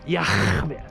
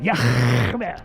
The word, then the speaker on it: Yah: His name is Yah. That's how you pronounce it. Yah. That's how you pronounce it, folks.